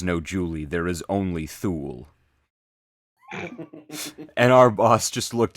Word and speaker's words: Thule: And it was a Thule, although most people say Thule, it's technically pronounced Thule.